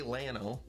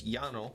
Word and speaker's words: llano: because it's spanish okay we say llano it's yano yeah we don't even